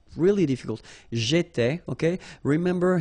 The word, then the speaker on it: étais: J'étais, okay? Remember, here we've got accent aigu, so it goes like e, all right? J'étais.